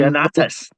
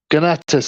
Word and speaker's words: Ganatus: romance between Barbara and Gagantis and that and Ganatus. Ganatus. That's the one. Yeah, that's how it's pronounced. Yeah. Ganatus.